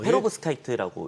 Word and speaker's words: 페로브스카이트: 뭐 그냥 페로브 스카이트라고 읽으시면 됩니다. 그냥 뛰어서기를 어떻게 할까? 이거 그냥 쭉 읽으셔도 됩니다. 페로브스카이트라고. 네. 그냥 한 호흡에 읽으세요. 쉬지 말고 네. 숨쉬지 마세요.